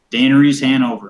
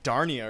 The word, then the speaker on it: Daenerys Hannover: horse again for me Daenerys Hannover okay I thought you said like Dar Nia or something I got confused oh